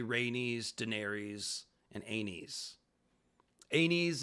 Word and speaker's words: Rhaenys: you got to say rhaenys daenerys and annie's a knees is the bee's knees that's that's my opinion so you got to say it like that otherwise you can do